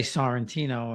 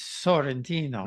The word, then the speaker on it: Santino: I'm always embarrassed to say my name over there in Italy because I say Santino and it's Sentino.